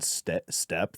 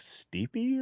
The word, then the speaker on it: steppe: the Mongols and like the Eurasian step they call it, but it's spelled like st e p which if you were to show me that would be like steepy or whatever. And I started listening to it and it was like the Mongolian step and